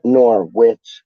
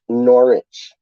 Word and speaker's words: Norwich: bits and bobs but he always pronounces norwich like nor witch it's like random man